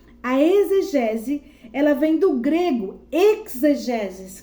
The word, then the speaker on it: exegese: Então, da etimologia da palavra exegese, ela se escreve assim, é com X, exegese, mas pronuncia com Z. A exegese, ela vem do grego exegeses, que significa o quê?